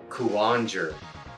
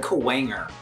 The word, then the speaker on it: Kuwanger: scissors okay Boomer coulanger Conger how do you say that Boomer I always said kawanger kawanger like cool Wang ER why is well he's